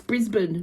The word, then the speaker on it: Brisbane: vernacular for Brisbane and my American friends it's Brisbane not Brisbane and it's Melbourne not